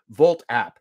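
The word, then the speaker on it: Wolt: vault wt except it it's pronounced with a v in German. Volt app.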